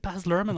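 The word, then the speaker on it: Baz Luhrmann: lurman yeah that's it is it baz lurman I'm saying that very confidently but I've just realized that no you're but you're you're saying it correctly and confidently Michael your confidence is well founded benj shall I just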